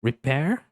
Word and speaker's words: repair: Repair. Veja só, não é repair com som de e. Aqui já tem um som de i.